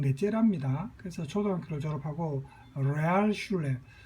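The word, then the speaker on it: Realschule: 그래서 초등학교를 졸업하고 레알슐레, 독일어로 레알 하면 영어의 리얼입니다. 우리가 보통 영어를 우리가 한국식으로 콩글리시하게 발음한다죠. 그런 발음이 이제 주로 독일어 발음이 많은데, 레알 하면 여러분 댓글창에 뭐 레알 이렇게 하죠. 영어의 리얼을 그죠? 그대로 발음한 레알 이렇게 콩글리시로 이 독일어가 레알이 이제 영어의 리얼의 뜻입니다. 슐레 하면 학교입니다. 영어의 스쿨.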